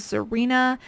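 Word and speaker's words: Xirena: pretty much anything in this brand it is zarena and for those of you listening and can't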